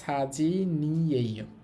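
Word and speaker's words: 사진이에요: তাহলে মাদু শিয়ে মাদু সাহেবের খাজক সাজি নিয়েও, এই নিউন কিন্তু উপরে চলে যাবে বাৎসিমের কারণে, উচ্চারণটা হবে সাজি নিয়েও।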